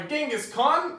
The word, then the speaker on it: Genghis Khan: So, it was started by Genghis Khan, or sometimes they call him Chinggis Khan, just depending on how you want to pronounce it or what you think is the best pronunciation.